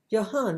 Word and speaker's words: Johann: Johann, it's a J, but it's pronounced as it's a letter J, but they're pronounced as a Y.